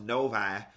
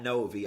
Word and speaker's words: Novi: and y'all told me it's pronounced Novi, not Novi.